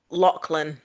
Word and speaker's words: Lachlan: It's pronounced Lachlan.